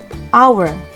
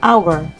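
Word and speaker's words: hour: kata atau awal Naon itu menggunakan huruf H tetapi kita menggunakan n bukan u e itu dikarenakan bacaan dari tulisan nya tidak menyertakan huruf konsonan yang berada pada awal katanya our walaupun tulisannya however bacanya our Oleh karena itu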